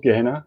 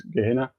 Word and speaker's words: Gehenna: Um, and then what we're talking about now with the lake of fire is called Gehennon or Gehenna depending on how you want to pronounce it.